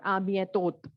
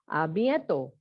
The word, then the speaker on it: à bientôt: Not à bientôt. T will not be pronounced. It is à bientôt.